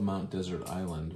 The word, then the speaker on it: Mount Desert Island: care smoothie we love Mount desert island which is Acadia National Park that's the in Maine and it's the same word desert some people pronounce it dessert but they're spelled the same it's very good no